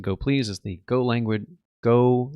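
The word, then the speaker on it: gopls: Imagine um go please you know go pls uh which you pronounce it go please is the go language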